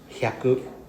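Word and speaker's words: 百: So 100 is pronounced as hyaku.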